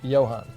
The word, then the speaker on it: Johan: Oh, the J is silent. Johan.